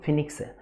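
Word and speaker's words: phoenix: फिनिक्स, इसका pronunciation ध्यान दीजिएगा, फिनिक्स है।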